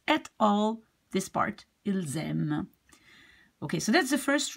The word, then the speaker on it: ils aiment: You see, normally, if you would pronounce this, you would say il. And this would be aime. But since this starts with a vowel, you will be linking the S to the A. Ils aiment.